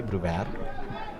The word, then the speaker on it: Brewer: Brewer, actually, sorry, so pronounce it the South African way, Brewer, rather than Brewer.